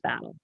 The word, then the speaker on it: Battel: It's spelled Battel. It's pronounced Battle.